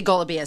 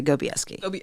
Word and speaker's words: Golubieski: You say Golubieski. Golubieski. So the way they pronounce it is they just lose the L completely and they just say Gobieski.